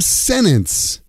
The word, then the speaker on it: sentence: Sentence. Sentence become senence. Please write that senence on the board.